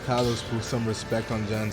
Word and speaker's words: Kalos: It's pronounced Kalos.